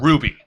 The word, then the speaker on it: RWBY: that started in November 2000 and that started in 2013 November 2012 called Ruby. The trash is RWBY. not done flowing. That's right. Viz Media has acquired the Ruby series.